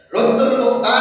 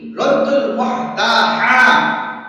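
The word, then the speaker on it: رد المحتار: রদ্দুল মুখতার নামে কোনো কিতাবই নেই। রদ্দুল মুখতার নামে কোনো কিতাব নাই। আছে কি রদ্দুল মুহতার, হাসি লিখতে যে হ এটার উচ্চারণ হলো হা, আরবিতে আছে রদ্দুল মুহতার আছে।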